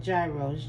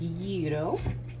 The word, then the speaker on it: gyros: that they put on years uh some people pronounce it gyros g-y-r-o but it is pronounced yuto and so i'm just cutting up some onions